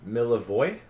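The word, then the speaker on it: Milivoj: sorry m-i-l-biv m-i-l-i-v-o-j what miller voy milvage well you wouldn't pronounce the j the languages like this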